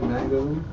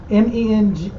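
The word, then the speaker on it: Josef Mengele: How you spell that? Mangale? MENGELE.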